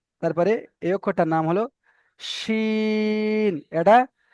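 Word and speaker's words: ش: তারপরে এই অক্ষরটার নাম হলো শিন, এটা সেটির মতন উচ্চারণ হবে, সিন। আর এইটা যে উপরে তিনটে নোক্তা রয়েছে, এটা মোটা করে উচ্চারণ হবে, শিন, শিন।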